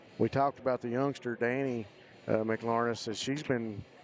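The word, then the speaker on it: Dani: How you pronounce that? Danny.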